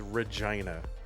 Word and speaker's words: Regina: The name of the place is Regina and it's pronounced like that which is just, you know, I'm 12 years old so I think words are funny.